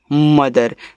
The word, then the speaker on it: mother: MOTHER इसको पढ़ते हैं मदर। देखो OTHER को आप क्या पढ़ते हो, अदर पढ़ते हो ना, तो यम लग जाएगा।